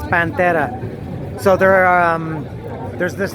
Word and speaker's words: Pantera: all pronouncing her own it's not Panther it's pancetta so there are there's